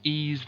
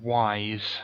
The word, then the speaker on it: Ys: one possibly will be ease the vanished omens on the Sega Master System a game I used to call wise that's is it not called wise it's brand new pronounced ease ease the vanished omens it's